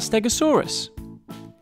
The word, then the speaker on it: Stegosaurus: about Stegosaurus how do you say that again stay go saw Russ can you say it with me stay go saw Russ so what do we know about Stegosaurus it was found in the United States and